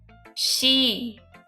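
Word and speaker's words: 詩: Oh h I've never heard anyone call a poem on the top Japanese she. It really is pronounced she.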